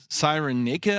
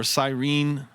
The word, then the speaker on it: Cyrene: District called uh um Sirena I believe is how it's pronounced uh or sirene sirene AA you'll have to look at that one but in itate